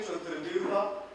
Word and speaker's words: Chaturbyuha: So here, defining the Chaturbyuha, as I say, phonetically very interesting. Chaturbyuha, we need to bend our tongues.